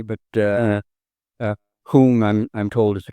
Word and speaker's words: Home: In England they call it Hume. In Scotland they call it whom. Yeah. Americans call it home. H O M E. But uh uh whom I'm I'm told is the correct pronunciation.